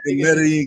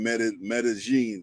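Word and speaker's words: Medellín: But I shot the video in Medellin, Colombia. You talked over Edley. What were you saying? I said it was produced by some Brazilian producers, the song, but I shot the video in Medellin, Colombia.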